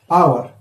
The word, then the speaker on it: hour: Here, hour. Hour. Here, H is silent.